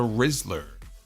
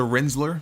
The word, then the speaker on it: Rizzler: 7 and a half it is the rizzler not the rinsler I think I mispronounced it the other day Jeremy Rose do you